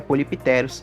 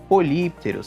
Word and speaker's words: Polypterus: se chama polos senegalus muitas pessoas aí costumam chamar ele de popitos senegalus Mas esse não é o nome correto pessoal não é popitos e sim polter essa é a pronúncia correta vocês podem até ver